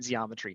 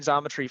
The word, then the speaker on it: Xometry: become part of the Zometry network. Phil, you got me saying zeometry. Now by the way thank you for this. I've only been saying zometry for six years but now now uh it's it's been uh butchered here.